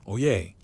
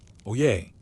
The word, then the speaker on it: Oyez: He clears his throat, holds up a parchment sealed with wax and bellows, "Oyez, oyez, oyez." 3 syllables that mean, simply listen up but carry the weight of royal decree.